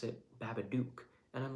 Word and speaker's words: Babadook: or babadook but um you got to be saying duck either way because it's gotta rhyme with the word look and book but um if you've